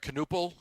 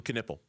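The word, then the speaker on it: Knueppel: Canel. Tom Canipple. Yeah, Caniple. I always say his name wrong.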